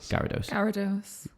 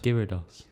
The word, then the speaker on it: Gyarados: kids like what the hell is it gyarados gyarados this is g-y yeah so gyarados gyrados nah well i don't know no let's not